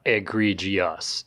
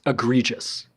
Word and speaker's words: egregious: it's English bro that's that's not how it's pronounced it's not egregious it's egregious oh yeah well uh when